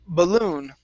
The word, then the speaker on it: balloon: um here we have the word balloon the stress is at the very end my first balloon my